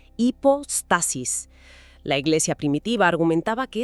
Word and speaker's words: hipóstasis: O hiposis, pronunciado con esa h suave, casi muda, hipostasis.